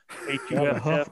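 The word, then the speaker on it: Hough: I was like, it looks like Hugh. I would have spelled that J-O-F if I would have heard. Or Huff. Huff, the Huff riots back in the 60s, man.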